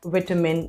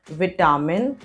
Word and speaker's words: vitamin: it's government almonds are a good source of vitamin e so you notice these two words it's not almond it's almond almond and this word is not vitamin it's vitamin vitamin almond vitamin are you